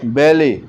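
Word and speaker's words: ballet: फिर है बैले, इसमें T साइलेंट है।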